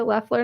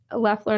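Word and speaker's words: Loeffler: you you can find me on facebook lefler notary services and my last name is spelled l-o-e-f-f as in frank l-e-r it's a tough last name or if you just google leffler notary or just notary or even saint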